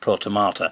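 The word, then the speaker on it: protomartyr: So, it's pronounced protomata.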